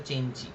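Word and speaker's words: Cenci: সেলিও চেঞ্চি বলে একটা মানে উচ্চারণটা হচ্ছে চেঞ্চি একটা প্রমিথিও আনবাউন আর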